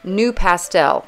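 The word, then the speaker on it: NuPastel: This is just a harder new pastel. This is spelled N-U-P-A-S-T-E-L, new pastel.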